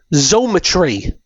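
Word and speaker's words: Xometry: Zometry, you spell it X M T R Y.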